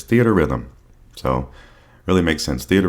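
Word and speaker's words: Theatrhythm: final bar line and I finally learned how to say this game's name after hearing people play it or hearing people talk about it is theater Rhythm so really makes sense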